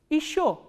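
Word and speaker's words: ещё: Again this ye unstressed, ye will be pronounced as e, not ye. So, how will you pronounce this word? Isho. Isho is still, isho.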